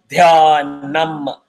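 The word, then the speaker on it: ध्यानम्: It is dhya. Dha is hard. Dhyanam. Nam has to be closed.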